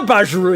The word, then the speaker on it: Bajiru: Yeah, Bajiru is how you say it.